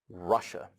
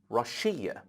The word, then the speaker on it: Russia: at the second country Russia Russia we don't say Rashean it is not rush ear it is Russia because distress is on the first letter now let's come to